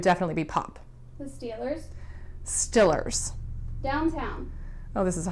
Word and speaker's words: Steelers: Stillers.